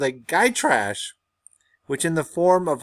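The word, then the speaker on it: Gytrash: that this is pronounced guy tray you don't say the sh it's guy tray all right it was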